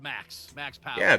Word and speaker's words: |V|axPow3r: And by the way, Rondon, it's pronounced Max Yeah, Power.